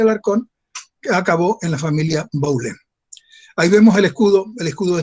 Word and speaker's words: Baulén: Hay 4 generaciones de Baulén, como se pronuncia en francés, que se establecieron en Saint-Malo.